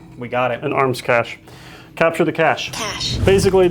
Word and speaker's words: cache: Um, that's capture the cache, the cich, you know, it's been now how many years put it in print, printed it, second edition of the book.